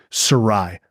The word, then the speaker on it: Sarraille: we're we're we actually the name is mispronounced it got Americanized as we say it's Sarai if you look at the spelling it's very